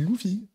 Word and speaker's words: Luffy: Genre, Luffy, ça se dit Luffy. Ah, Luffy. On prononce Luffy.